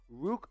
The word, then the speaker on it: Ruke: bad Scooby-Doo impersonation but his example for pronouncing his name was it's like row row row your boat but no Boat Part just Rook at the beginning so let's get to